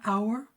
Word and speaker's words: hour: But when it's silent, an hour, an honest answer, because the H in hour is silent, we're hearing the O, then it's going to be an.